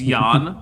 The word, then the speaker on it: Jan: Ort's first name, I'm drinking for it because it's Yan, but it's spelled with a J." Jan.